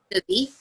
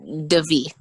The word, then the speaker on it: Devi: Divvy. All right, you're gonna have to say that again. You keep cut out. Yeah, you keep cutting every out. Time. It's Devi.